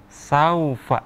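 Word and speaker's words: سوف: Madlain itu hukum bacaan panjang yang terjadi ketika wau sukun atau ya sukun setelah huruf berharokat fathah. Jadi dibacanya saufa seperti di ayun ya.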